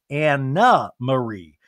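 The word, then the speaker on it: Annemarie: And Andy's like, and let me clarify, it's Anna Marie. And Anne Marie goes, Anna Marie spelled like Anne Marie. It's a Dutch name.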